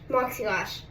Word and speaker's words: Moxie Lash: name um i can't read moxiel moxie lash moxie lash that's how you supposed to pronounce it i've been mispronouncing it the whole